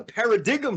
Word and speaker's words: paradigm: I want a paradigm shift. Yeah, there's a G in there. The G is silent.